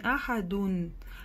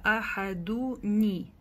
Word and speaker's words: أحد: То есть будет не ахадун, а ахадуни. То есть нун вот это будет с кесрой.